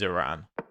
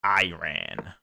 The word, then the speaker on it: Iran: Is that Yeah, that is Iran. I'm going to pronounce it properly. I'm not going to say Iran. It's Iran.